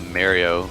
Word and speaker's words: Mario: that perks me is when people call a Mario Super Mario Brothers marry oh brother like have you not